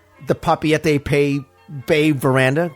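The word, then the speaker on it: Papeete: at things like the papete pay Bay Veranda cuz I called it papit and I got yelled at so now I probably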